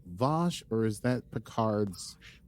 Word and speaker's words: Vash: yeah is vash's name vosh or is that Picard's accent no I think it is is her name I think it's Bosh like bath the prolonged ah oh law I didn't